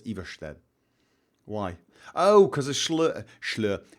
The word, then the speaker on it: Ivarstead: If you have an S that comes before an L or after an R, it tends to be slurred. So Oslo, they don't say Oslo, they say Oslo. And Everstead, that's how you would pronounce Everstead.